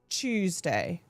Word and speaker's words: Tuesday: How do you say Tuesday in British English? Tuesday. The CH.